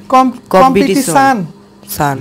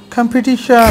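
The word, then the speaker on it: competition: এটা সবাই ভুল করি আমরা বলি কি কম্পিটিশন সান আমরা বলি কম্পিটিশন সান তো জীবনে হবে না শোন হইতে হবে শোন কম্পিটিশন কম্পিটিশন সান না শোন শোন কম্পিটিশন সান শোন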